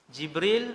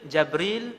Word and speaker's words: Jibril: Jibril, Jabril, Jibrail, Jibrail. 4 cara baca. Semua sahih.